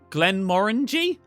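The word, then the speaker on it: Glenmorangie: people won't listen hmm rhymes with orangey glenn moringe glenn moringy what that's not right is it glenn moringy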